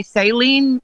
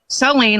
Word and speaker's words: Saleen: So most people want to say saline, like the solution for your eye. Yes, I've heard that. He wants to tell you that it's saline, like gasoline, which helps people remember how to pronounce it.